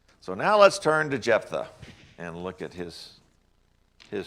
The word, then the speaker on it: Jephthah: the story of jephthah or some people say japeth but i say jephthah jephthah is kind of like if tinky if you